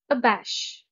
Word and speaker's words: abash: and antonyms where applicable abash the stress is on the second syllable a bash it means